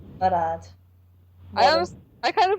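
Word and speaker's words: Marad: It's spelled M-A-R-A-D is his last name. Murad.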